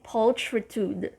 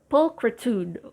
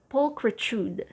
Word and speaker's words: pulchritude: foible next this one i used to say paltritude old porch pulch it's quite challenging right but it's i mean the correct way to say it is pulchritude or pulchritude pulchritude the main stress is